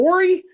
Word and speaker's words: Horry: The H is silent. Isn't it Horry?